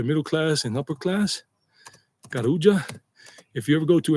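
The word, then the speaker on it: Carulla: Kuja if you ever go to any other Kuja that's how you pronounce it. Anytime you have a double L in Spanish double L you know together it's J not.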